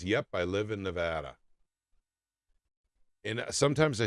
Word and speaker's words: Nevada: It's spelled the same way, by the way. It's just pronounced differently because we're in Missouri.